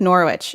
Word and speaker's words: Norwich: In the UK, is it Norwich? Is it Norwich? But in Connecticut, it's pronounced phonetically like Norwich.